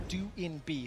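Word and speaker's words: Doinb: quick update we have received updated information correctly pronounced join be his nickname is how we used to say it is due in be so we will be referencing it that way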